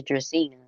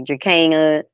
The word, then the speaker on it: Dracena: Her name is Dracena. Some people try to say Dracana. It's Dracena.